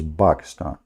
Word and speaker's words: Pakistan: How the Quran says, by the way, this is the correct way to say it, not Pakistan, like in English, you know, that's funny. It is Pakistan, okay?